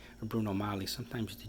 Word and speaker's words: Bruno Magli: be flippant really but bruno magle or bruno molly sometimes the g is silent that's pronounced bruno magli or bruno mali with the silent g but regardless my point